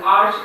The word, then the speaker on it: arch: So spelling bound correspondence, the sounds of letters, if you say CH in monarch, it's pronounced as sounding k, but in arch it is CH, which is ch.